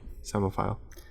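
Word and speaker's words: psammophile: Samophile. SAEMOPHILE. Samophile. Good guess. Okay. It's that first syllable that really tripped you up. Yeah. PSA. MM. OPHILE. Okay. 2 M's. Yeah, I did not see the P.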